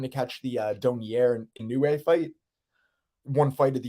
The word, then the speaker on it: Inoue: Inoue.